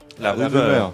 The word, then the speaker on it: La Rumeur: And then there's actually a group in France called, I never pronounce it properly, but it's The Rumor, Les Rumeurs. La Rumeur.